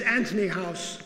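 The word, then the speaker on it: Antony House: This is Anthony House, spelt without an H, Anthony House in Cornwall.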